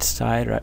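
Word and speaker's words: 寺: And this right side, right part of the character over here, this whole part, 1, 2, 3, 4, 5, 6, this today is pronounced si in Mandarin, and its meaning is a temple, like a Buddhist temple.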